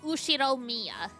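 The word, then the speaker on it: Ushiromiya: The first part is my family name, Ushiro Mia. That's a fairly plausible Japanese pronunciation so far.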